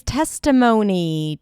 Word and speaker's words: testimony: You start with a t sound, then it's the e as in red. T. Close it with an s. Test. Test. And then twah. Test mo. O is in go. Testimony. Testimony.